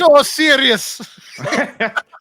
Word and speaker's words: Osiris: Listen, there's nothing wrong with getting that name wrong, Matt. You're not at fault. It's Osiris.